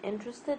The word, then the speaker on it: interested: that are not stressed only the I in interested is stressed the rest is not okay so this vowels are